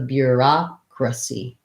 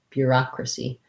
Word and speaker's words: bureaucracy: e at the end the letter c says s sound so bureaucracy bureaucracy that's not that easy